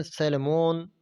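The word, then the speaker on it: Solomon: एंड सैलमोन, ये सोलेमोन, सोलेमान इसको bacon लिखता है, सोलोमोन इसकी स्पेलिंग बेकन ऐसे में इसी तरह ही आएंगी, लेकिन असल में ये होता है सोलोमान, SOLOMAN।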